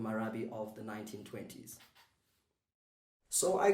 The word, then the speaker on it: marabi: of the 1920s in south africa it's called marabi marabi you can say it after me it's spelt m-a-r-a-b-i marabi all right so marabi is